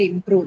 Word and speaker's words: improve: So does it have it on second one? Improve. Prove. Okay, on prove.